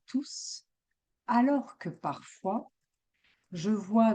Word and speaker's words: tous: En fait, nous ne prononçons pas le S quand tout est suivi d'un nom.